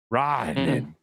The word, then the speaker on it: Rantanen: Rantanen.